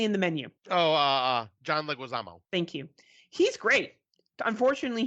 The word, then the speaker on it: Leguizamo: Now, John, I always say his name wrong. Lemusa, he was recently in The Menu. Oh, John Leguizamo.